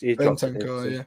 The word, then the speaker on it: Bentancur: Benat? Can't pronounce his name. He's Bentancur, Bentancur.